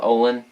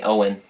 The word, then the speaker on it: Olin: cool to play uh Olin funny I makes me think of when Dawson said my name wrong in the first take where he called me Owen and I had to correct him that was pretty fun